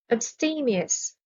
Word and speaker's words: abstemious: The stress is on the second syllable. Abstemious.